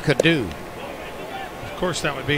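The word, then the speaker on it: Coddou: C-O-D-D-O-U, pronounced Cadu.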